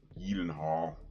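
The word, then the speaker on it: Gyllenhaal: well or healing Hardware let me try to say it properly Jakey gilenhaal this is the Swedish name I'm gonna say it properly Elin Hall but yeah man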